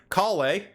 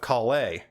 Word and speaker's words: Collei: l-e-i in france in in the french is pronounced lay i'm going with kalei now the last name